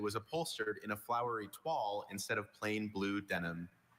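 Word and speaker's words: toile: When their new couch arrived, Martin and Louisa were irked to find that it was upholstered in a flowery twall instead of plain blue denim.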